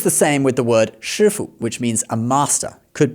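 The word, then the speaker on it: 师父: Shifu So, this one is shifu. It's not shifu.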